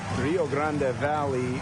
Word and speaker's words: Rio Grande Valley: When you bring up Rio Grande Valley, which is the correct pronunciation.